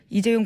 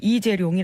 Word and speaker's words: 이재용: 동아일보가 그런 보도 하면서요 최순실 씨가 이재용 부회장 이름을 이재룡이 아고 주로 발음한다 그래서 이재룡이 VIP 만날 때